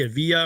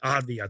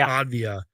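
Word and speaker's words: Avdija: know you mentioned the Denny I I can't pronounce his last name Denny Ava or whatever uh from the Wizards he had a really good season for the Wizards by the way Avia thank you Denny Avia good season for the Wizards man I'm sorry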